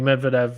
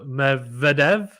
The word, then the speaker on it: Medvedev: Eugene says the stress should be on the second syllable in the Medvedev family name, not the first one as the reporters are making. Okay, so Medvedev?